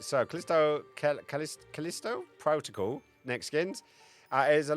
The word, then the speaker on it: Callisto: Because I keep getting brought up and I keep not being able to pronounce it. This one. Callisto? Callisto.